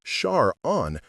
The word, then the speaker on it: Sharon: The two-syllable structure with emphasis on the first syllable, Shar-on, created a strong, confident sound that parents found appealing for their daughters.